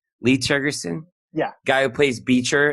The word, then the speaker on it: Tergesen: Is that how you pronounce his name? Lee Tergesen?